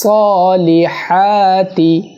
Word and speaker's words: الصالحات: মধ্যখান থেকে ওয়া আমিলুস সলিহাতি, আমানু ওয়া আমিলুস, আমানু ওয়া আমিলুস, আমানু ওয়া আমিলুস সলিহাতি। এখানে সদ সিন্না, অর্থাৎ সালিহাতি বলা যাবে না, সলিহাতি, হাতি হাতি, হাতি নো, হাতি।